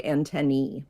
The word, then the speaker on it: antennae: should well it technically most scientists are more likely to say antennee antenna with the AE saying e the way that it does in algae the way that it does in Caesar like in Caesar salad Caesar is a salad